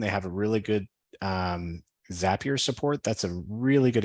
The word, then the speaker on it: Zapier: say on the website zapier rhymes with happier so I know I'm pronouncing that correctly um zapier is a tool that